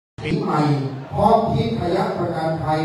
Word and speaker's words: ทิพย์: ทิศ อัน เป็น มงคล ถ้า บาลี อ่าน ว่า ทิพยะ ถ้า เป็น ไทย ใส่ ไม้ ทางฆาตัน เข้า ไป ก็ เป็น ทิพย์ นะ ครับ ความ หมาย